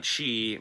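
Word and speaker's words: qi: energy in fact they're feeding on she and or ki depending on how you want to pronounce it um which they can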